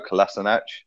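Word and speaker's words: Kolašinac: And then left back, I'd go Kolasinac, which is the correct pronunciation, Sam.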